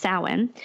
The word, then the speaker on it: Samhain: wrote a lot about the Celtic holiday of sowhen it looks like it's written Samhain but pronounced soin and he wrote that it was a holiday